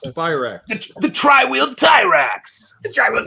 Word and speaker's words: Tyrax: I think, would you say Triax or Trax? I'm thinking Trax. Tyrax. It's Tyrax. It's pronounced Tyrax.